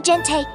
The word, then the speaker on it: gente: Sound 2, soft G before E and I. Same as J gente, gimnasio, Argentina.